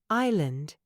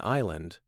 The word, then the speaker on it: island: words like knife psychology Island they're full of letters we don't pronounce exactly the K in knife the p in Psychology the the seas in Island all silent it's no wonder Learners